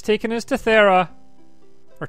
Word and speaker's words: Thera: We've got a fish on a string, and it's taken us to Thera. Or Terra. I mean, I can't remember how they pronounced it. I think it was Thera. It was Thera.